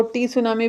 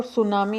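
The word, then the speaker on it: tsunami: जापानी वर्ड है और यह टी से शुरुआत इसकी होती है टी सुनामी कोई कोई लोग इसको टी सुनामी भी बोलते हैं लेकिन इसमें टी साइलेंट रहता है और सुनामी इसको बोला जाता है और जो योग्य फ्रेमवर्क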